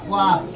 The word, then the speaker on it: خواب: میں بتا رہا ہوں۔ اب یہ واو لکھا ہے لیکن اسے پڑھا نہیں جائے گا۔ اسی طریقے سے لکھا جاتا ہے خوش۔ کیا لکھا جاتا ہے؟